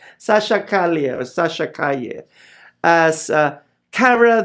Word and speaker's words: Calle: I just want to tell you that Sasha Calle, or the way we Filipinos pronounce it, Calle, Sasha Calle or Sasha Calle, as Kara the Kryptonian.